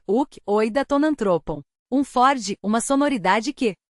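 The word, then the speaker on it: οὐκ οἶδα τὸν ἄνθρωπον: É assim que se pronuncia uk, oida tonantropon.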